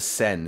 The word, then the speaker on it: Seine: The Seine is how I pronounce it, right? The Yes. Seine, okay.